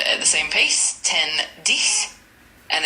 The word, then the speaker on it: dix: 10, Dix, and it's spelled D-I-X.